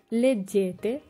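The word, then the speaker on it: leggete: তু লেজ্জি। তু লেজ্জি তুমি পড়ো। লুই লেই লেজ্জে। লুই লেই লেজ্জে। এখানে লুই হচ্ছে পুরুষ এবং লেই হচ্ছে মহিলা। লুই লেই লেজ্জে। নই লেজ্জামো। নই লেজ্জামো আমরা পড়ি। বই লেজ্জেতে তোমরা পড়ো।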